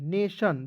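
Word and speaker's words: nation: उसके बाद देखेंगे एन ए टी आई ओ एन, नेशन, देखेंगे एन ए जब भी साथ में रहेगा दोस्तों इसका उच्चारण ए के रूप में करेंगे ने हो जाएगा।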